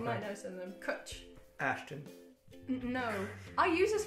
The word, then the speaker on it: cwtch: Kutch. Kutch.